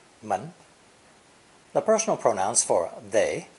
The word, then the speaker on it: 们: The seventh character in today's lesson is theoretically second tone in origin, but pronounced with a neutral, unstressed tone because it serves only as a plural marker at the end of personal pronouns. Obviously, the door element is the phonetic here, the character being pronounced mun, mun.